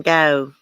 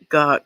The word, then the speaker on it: Van Gogh: you would pronounce it like vincent van gogh it's gok not go is it vincent van